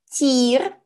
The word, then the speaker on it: тӥр: ӧч-ӧч-ӧч "фу, какая гадость" Гласная буква ӥ звучит как обычная и, но на письме она указывает на твердость предыдущей согласной.